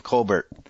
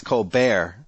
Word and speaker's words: Colbert: how in real life his name is pronounced stepen Colbert yep but in on the show it's Cole Bear yeah I think O'Reilly